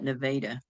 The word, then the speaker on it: Nevada: Uh it's spelled like the state of Nevada, but they call it Nevada.